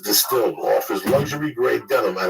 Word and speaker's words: DSTLD: apart or look terrible dstld d pronounced distilled offers luxxury gray denim